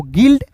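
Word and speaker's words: guild: जी यू आई एल डी को गिल्ड।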